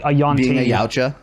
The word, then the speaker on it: Yautja: Being a Yautja? Yautja, that's what it is.